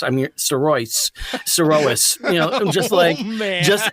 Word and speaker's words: Sirois: the last name is Sirois. That's the French Canadian way of saying it. So, and I'm not used to hearing that at all. I'm used to hearing Sirois. I'm Sirois.